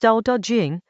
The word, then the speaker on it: Dao De Jing: Chapter 32 of the Dao Da Jing, pronounced Da Da Jing, the classic attributed to Leazi, turns on a single problem.